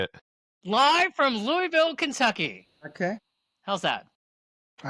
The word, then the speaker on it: Louisville: A lot of people say Lewisville. Never have just dumb. But the uh prod correct pronunciation is Louisville.